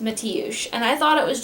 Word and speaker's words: Mateusz: But I found a name that I believe is the Polish version of Matthew, and this is how it's spelled, and it's pronounced Mateusz, and I thought it was just the cutest stinking name ever, and it seemed like the perfect name.